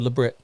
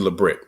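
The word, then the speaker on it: Lebrit: your first name right is it lit or leit it's actually labrit Le Brit okay all right I I try to put a little French pronunciation on that sorry yeah no worries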